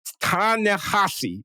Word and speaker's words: Ta-Nehisi: It's Ta-Nehisi. The H-I-S-I still sounds like a H-A-S-I.